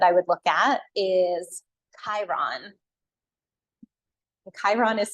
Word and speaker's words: Chiron: last one that I would look at is Chiron Chiron is spelled c h i r o n Chiron